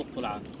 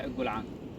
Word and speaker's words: القلعان: الجلعان زي ما قرينا بره الجلعان او القلعان بس الاصح الجلعان بلهجه العباب ليه سموها الجلعان حد